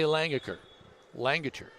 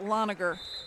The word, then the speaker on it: Langacher: Addie Langacher. Back to serve. Pilot. Warwick. And a great pushback. I think that's actually pronounced Loniger.